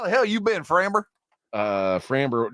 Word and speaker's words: Framber: Oh, maybe I don't think that's how you say it. No? No, We were talking about famous French guys earlier. I thought like that was Framber. Framber.